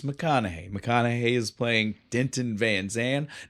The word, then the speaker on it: Van Zan: McConaughey is playing Denton Van Zan, not Van Zant. No, there's no T. No T on that Zan.